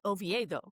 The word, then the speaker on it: Oviedo: We have a a Spanish sister city actually located in Spain and their pronunciation is OVO.